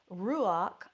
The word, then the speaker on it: ruach: Pneuma, that's spelled P-N-E-U-M-A. Numen, N-U-M-E-N. Ruach, R-U-A-C-H.